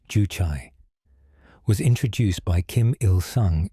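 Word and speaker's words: 주체: A mainstream fact, Juche, pronounced Juchai, was introduced by Kim Il-sung in the 1950s as North Korea's guiding ideology.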